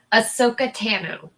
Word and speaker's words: Ahsoka Tano: just be patient i have confirmation on that pronunciation by the way thank you it's ahsoka tano piano thank you so much for our mandalorian